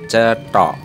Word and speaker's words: Cetho: Candi Cetho, di mana dalam ejaan bahasa Jawa secara Latin C E T H A, atau bisa dibaca dengan sebutan Cetho, merupakan candi bercorak Hindu